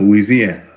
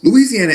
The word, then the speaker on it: Louisiana: I said Louisiana. But when you're from down there, they say Louisiana. They don't play. They say Louisiana with the L-O-O. They say it double up.